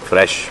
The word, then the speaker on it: Frsh: और फ्रेश की स्पेलिंग सुनो, FRSH। मैं क्या करूं फिर, जॉब छोड़ दूं?